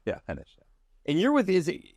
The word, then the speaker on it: Henish: to get Podcast today I have Hesh on henes henes excuse I'm going to buer this thing the whole time no it rhymes with henish so henish yeah henish and you're with is it is it C